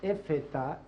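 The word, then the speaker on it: Effetá: pronunciación de las guturales en ese caso del efeta efectivamente falta el pronunciar la última letra que es una gutural llamada IP había de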